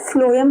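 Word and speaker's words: phloem: एंड फ्लोएम क्या करता है, यहाँ पर अगर आपको कंफ्यूजन हो ना तो PH F प्रोनाउंसिएशन आ रहा है, तो फ्लोएम क्या करता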